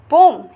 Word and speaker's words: poem: जैसे कि पहले पोएम पढ़ते थे, POEM पोएम, जिसे पोइट्री बोलते हैं, but right now इज पोम। इसकी प्रोनाउंसिएशन क्या हो गई है, पोम।